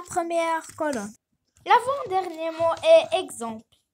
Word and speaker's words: exemple: L'avant-dernier mot est exemple. Ici, X se prononce comme exercice.